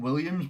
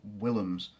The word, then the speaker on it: Willems: People keep saying Williams, but it's spelled Willems. So I'm saying Willems.